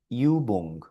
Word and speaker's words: Übung: Aquí tenemos otra palabrita que es Übung, Übung, que es ejercicio.